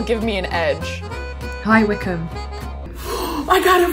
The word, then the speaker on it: Wycombe: now maybe that'll give me an edge hi wickham oh i got it right wickham hi wickham